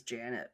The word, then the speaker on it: Jeanette: also, we Uh, had a big boss at our company who was Janet, but it was spelled. It was like spelled Jeanette, but it was pronounced Janet.